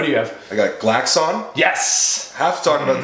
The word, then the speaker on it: Glaxon: It's Glaxon. Glaxon. Make sure, unless you're Sam Strange, who says that the traditional English pronunciation, because he's from Europe, is Glaxon. Oh, but he listens to too much Saxon.